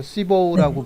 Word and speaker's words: CBOW: 그래서 시보우라고 보통 얘기를 발음은 합니다. 시보우. 네.